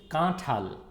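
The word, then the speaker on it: কাঁঠাল: So it's kathal. You can see it's written in Bangla and then the Banglish pronunciation and jackfruit. It's kathal. Say with me, kathal. Kathal. It's not to, it's tho.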